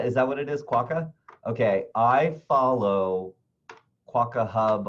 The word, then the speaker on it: quokka: that's a quota right is that how it's pronounced waka yeah waka is that what it is quokka okay I follow quokka hub on Instagram and